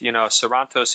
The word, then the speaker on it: Sarantos: I kind of realized, Sarantos is how you say my name, which is in Greek.